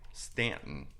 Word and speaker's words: Staunton: in Virginia, and there's a town in Virginia called Stanton. However, it's spelled Staunton. Staunton? So it's spelled Staunton, but the reason that they did that is because then they could identify who were the Southern soldiers, Oh, yeah. Okay. because they would say it Staunton, and they're like, "Nope,